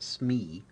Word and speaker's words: SME: designers typically work with subject matter experts or smes this is usually pronounced smee in the field a smee may